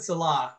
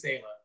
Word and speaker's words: Saleh: And so Robert Salah, I hope I'm pronouncing his name right. I think it's Saleh, is the first Muslim American coach.